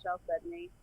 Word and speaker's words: chalcedony: I think it's also a chalcedony. Chalcedony, yeah. You can pronounce it either way.